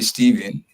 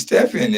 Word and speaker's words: Stephan: extra so um stepen I don't know why people call you Stephen but your name is Stephan right yeah it's Stephan I mean I don't